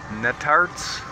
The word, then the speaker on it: Netarts: So this is a little north of Cape Lookout, a little city called Netarts.